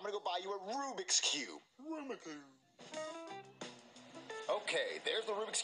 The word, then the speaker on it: Rubik's Cube: No, a Rumacube! Jeffy, it's pronounced Rubik's Cube!